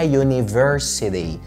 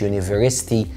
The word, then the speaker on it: يونيفرسيتي: والجامعه اسمها يونيفرسيتي مش يونيفرستي، يونيفرسيتي.